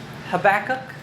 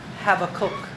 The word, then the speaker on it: Habakkuk: So ang pagbikas ng book na ito sa English habacok. Habakuk. Pwede ring have a cook pero sa Hebrew it's have a cook.